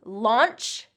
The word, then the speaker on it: launch: Number 3, launch and lounge. Okay, launch and lounge. Launch, like when I launch a rocket, launch has that ch sound, voiceless ch.